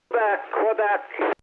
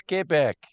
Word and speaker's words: Quebec: Quebec. No, it's Kebeck. It's pronounced Kbeck. You do not pronounce the U.